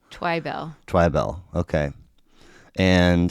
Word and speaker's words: Twibell: Bill what does um emphasis on the wrong syllable so the second syllable gets the twybell twybell okay and how